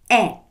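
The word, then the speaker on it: è: E.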